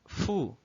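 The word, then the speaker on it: ふ: O hiragana fu, em alguns materiais, vai ser encontrado como hu, né, com HU. Isso acontece porque o som do F é o som aspirado, assim como o som do H, que nós vimos ha,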